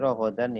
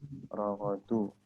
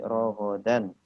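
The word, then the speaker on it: رغدا: Ini rogodan ya bacanya, bukan rogodu, tapi rogodan. Perbaiki dulu.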